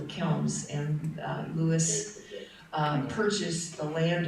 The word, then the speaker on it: Kilns: And they pronounce it. the house. No, she means Oh, The kiln. the kilns.